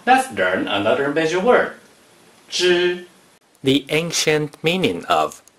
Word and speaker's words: 隻: 枝 is the first tone.